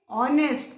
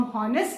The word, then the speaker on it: honest: ऑनेस्ट. किसका sound आ रहा है? ओ, है ना, ओ का साउंड आ रहा है, ऑनेस्ट, है ना. हम हॉनेस्ट नहीं बोलते. HONEST का करेक्ट प्रोनाउंसिएशन इज ऑनेस्ट.